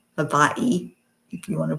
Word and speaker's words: Hawaii: It's all Hawaii. Havaii, if you want to pronounce it correctly.